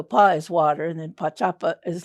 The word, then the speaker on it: Pá'Čapa: So Pa is water, and then Pá'Čapa is like where it bends, like an elbow, like it bends.